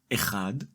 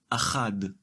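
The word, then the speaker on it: אחד: The separate masculine form of the number 1 is ‘echad’ and in the construct state, it is ‘achad’.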